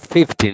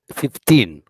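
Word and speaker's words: fifteen: And it's not 15, it's 15, with the stress in the last syllable.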